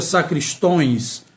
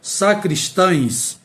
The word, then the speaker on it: sacristães: Temos aí, muita gente pronuncia sacristões, mas não é. O certo é sacristães, é o plural da palavra sacristão.